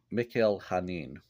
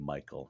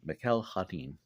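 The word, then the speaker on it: Mikel Janín: by Tom Taylor drawn and colored by uh Mikel hanin is how his name is pronounced I looked on YouTube to see previous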